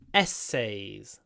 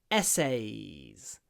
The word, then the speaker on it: essays: hate writing essays essays the stress is on the first syllable e the say is longer but softer essays essay the y i